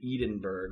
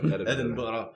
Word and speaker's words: Edinburgh: Moscow, Cornwall, and Edenburgg all had simultaneous big mean Edenberg.